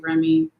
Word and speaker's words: Rumi: And so Rumi was, or is, depending on how you pronounce it. I say Rumi, some people say Remy, whatever.